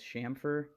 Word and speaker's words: chamfer: If he's Team Roundover or Team Chamfer, or if he knows that the right way to say that is Chamfer.